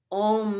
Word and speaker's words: om: together oh om is also a very interesting sound it is one syllable akshara but om is also comprised of different mouth positions so for especially robina